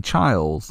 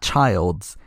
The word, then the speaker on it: Childs: say no no no it's not child's it's childs making them change the